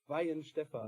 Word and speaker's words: Weihenstephan: Weihenstephan.